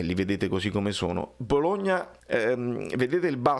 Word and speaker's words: Bologna: Bologna in italiano si dice Bologna, e quindi Bologna così. In inglese, se voi andate a vedere come si pronuncia? Baloney.